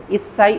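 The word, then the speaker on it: いっさい: এক আট 10 এক এর ক্ষেত্রে যতগুলো এক পাবো শেষের ডিজিট গণনার ক্ষেত্রে সবগুলোকে ইসছাই উচ্চারণ করতে হবে।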